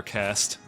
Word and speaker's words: caste: I'm sorry, Gwendolyn, but you had the unfortunate circumstance of being born into a warrior caste. Caste? How do you pronounce that? Cast.